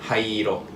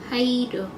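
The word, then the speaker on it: 灰色: is hairo. Hai. Hairo. Haido. Mhm.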